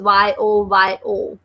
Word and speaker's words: yo-yo: And here the spelling is Y-O-Y-O. So we are pronouncing this as yo-yo.